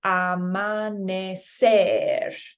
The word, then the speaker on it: amanecer: So this one is going to be amanecer. So you're hearing that last E a little more. So it's almost like a ramp.